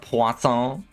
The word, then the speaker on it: Poisson: Poisson. Thank you. It's funny that you've used the French pronunciation, the proper pronunciation.